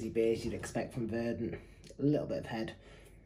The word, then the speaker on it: Verdant: was asking we've got a can of it's pronounced verdant helpful verdant thank you um it hits an